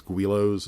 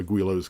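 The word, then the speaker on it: Guillow's: They don't do it like building a Guilos, and I think it's Guilos, I believe is the proper way to say it.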